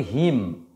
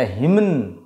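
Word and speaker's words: hymn: আমরা কি করব না, এই এম এনকে শুধু ময়ের মতো উচ্চারণ করব, এনের উচ্চারণ হবে না। আন্ডারস্টুড ইট? এবং সেটা মাথায় রাখতে হবে, কিন্তু শব্দের শেষে থাকবে। যেমন আমরা এটাকে বলি হিম, কি বলি?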